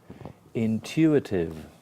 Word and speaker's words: intuitive: Intuitive. Intuitive. Intuitive. V. Intuitive. Intu. Like university.